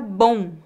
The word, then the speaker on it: bom: do m no final o mesmo acontece com a palavra bom é bom a letra O fica nasal e temos um leve ditongo bom bom não há o som do m no final agora eu tenho uma